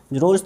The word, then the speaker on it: Rolle's: सो इसके बाद हम लिखेंगे here all three conditions of रोल्स theorem. कोई टीचर इसको रोलीज थ्योरम भी बोलता है. सो अपने ऊपर डिपेंड करता है कोई कैसे उसको प्रोनाउंसिएट करता है.